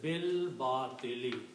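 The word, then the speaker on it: بالباطل: And when you recite, you do not recite this alif here. You combine ba with the lam and you say bil batili.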